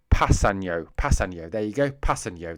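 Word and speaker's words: Kpassagnon: Passeno. That's apparently how you say it. That's according to Wikipedia.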